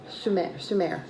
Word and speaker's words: Sumer: Ur was a city in the region of southern, wait, is it Sumer? Yeah, Sumer.